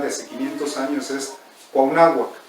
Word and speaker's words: Cuauhnáhuac: El náhuatl original de hace 500 años es Cuauhnáhuac, o la gente que es de ahí, Cuauhnahuaca, y bueno, los españoles ya la nombraron Cuauhnáhuac, que diga Cuernavaca.